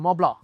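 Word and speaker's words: Mont Blanc: जो लोग ने ये देखा होगा क्या कहते हैं लेटेंट, उसमें दीपक कलाबी कहते हैं मोब्ला, माब्ला, हाँ मोब्ला, तो दैट्स द राइट प्रोनाउंसिएशन।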